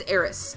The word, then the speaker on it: Aerith: whole Aris era thing I refuse to use the Aerith pronounciation it is always Eris I will always say Eris and yes I will die on that note it is Eris but ya know she